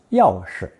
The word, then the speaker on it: 钥匙: Here are 2 sentences using key, pronounced yao shi.